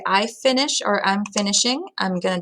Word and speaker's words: finis: So I want to say I finish or I'm finishing. I'm going to drop the IR, replace it with IS. Je finis. All right, so the S is silent.